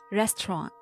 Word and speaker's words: restaurant: And native speakers do skip the T sound when it comes with the N sound in their frequent speech. So restaurant becomes restaurant.